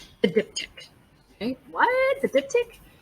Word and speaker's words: diptych: diptych okay what the diptych you pronounce it just like dip and tick dip tick the diptych is a uh